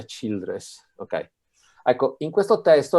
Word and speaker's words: Childress: nome si pronuncia beacham il secondo me si pronuncia childress ok ecco in questo testo la tutta la